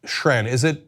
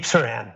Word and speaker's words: Saran: And joining me is Shran. Have I pronounced that right? It's Saran. That's Saran. right, deep like water.